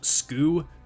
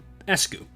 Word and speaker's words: ESGOO: Apply Ryoshu's methodology to that, and you get ESGOO, which doesn't look very visually appealing and could also be pronounced skoo, so I added an E to the beginning for ESGOO.